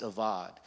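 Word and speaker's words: עבד: Now, that word till is the word, it's spelled A-B-A-D, but it's actually pronounced avad. Yeah. And that word avad, there is no man to till.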